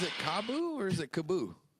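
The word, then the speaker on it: KAABOO: And then if it was 1-0 at the end, it'd be Cabo, but it's double O, so it's Kaboo.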